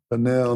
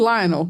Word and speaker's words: Lionel: His name is spelled Lionel. That's how we would say it. Lionel Messi. But they say it like, Lionel.